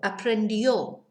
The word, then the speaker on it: aprendió: Third person singular, we add on io and an accent on the O. So, aprendió, he, she, or it learnt.